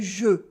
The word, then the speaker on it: jeu: Most of the time, words with EU sound like E exclusively, as in le jeu, the game, le jeu.